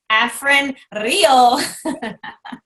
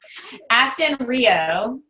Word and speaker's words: Afton Rio: And as they said on the call, Afrin Rio. They said her name wrong. That was so funny. Afton Rio. She's not a nasal spray.